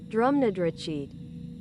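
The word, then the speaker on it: Drumnadrochit: I just need to pronounce it. Drum Nadriit.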